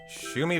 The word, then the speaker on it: Shumi: It starts with an S and rhymes with roomie.